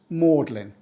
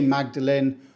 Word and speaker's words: Magdalen: mlin college that's right it's pronounced mlin we don't say Magdalene or Magdalene unless you're on TV the pronunciation doesn't seem